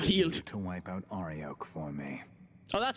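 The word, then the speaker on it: Arioch: To wipe out Ariok for me. Oh, that's how we pronounce it.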